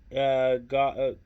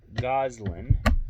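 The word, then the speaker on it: Gosselin: Reality star Kate Goswell. Oh my goodness. I'm sorry. I butchered that. Reality star Kate Goslin.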